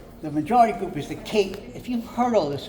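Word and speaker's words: Kinh: The majority group is the King. If you've heard all this, you'll stop me, okay? King people, K-I-N-H, but pronounced like King John, and they're 86% of the population.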